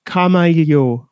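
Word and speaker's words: Kamailio: Let's pronounce that properly, folks. Camaglio World.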